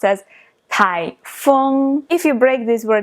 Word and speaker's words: 台风: know is typhoon and in chinese it is pronounced as tai fung if you break this word into characters you